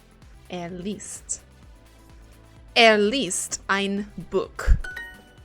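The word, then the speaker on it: Buch: least at least Ein book the CH must be pronounced like the r of rat I'm trying to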